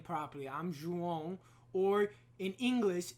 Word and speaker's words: Juan: so let me say my name properly i'm juan or in english it's there you go